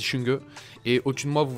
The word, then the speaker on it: Xunge: le gagnant des World alors s'écrit xinguer mais c'est ça du chewing-gum et au-dessus de moi